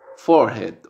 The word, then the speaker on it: forehead: Americano, forehead, forehead, forehead. ¿Vieron que hay una diferencia? Americano digo forehead, forehead. La R la pronuncio.